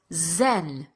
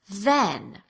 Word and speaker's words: then: So these speakers will say, and you're probably doing one of these two things, dan instead of than, or zen instead of then. You are most likely making one of these substitutions depending on your native language.